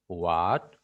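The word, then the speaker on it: who: What, when, war, Y, which. তবে different আছে, যেমন হাউ, এটা তো আলাদা জানেন। আরেকটা হচ্ছে হু, হু এর ক্ষেত্রে কিন্তু ডাব্লিউ এটার উচ্চারণ হবে হু।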